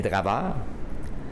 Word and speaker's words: draveur: C'est ceux autres qu'on appelle les draveurs. Draveur, qui est simplement la prononciation française de driver, tout simplement.